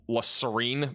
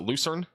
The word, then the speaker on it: Lucerne: I like Max's pronunciations of La Serene more than the actual one. Lucerne? Oh, is it Lucerne?